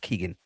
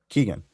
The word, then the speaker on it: Keoghan: For it to pronounce it nothing like it looks like it's spelled. That is a very Irish thing.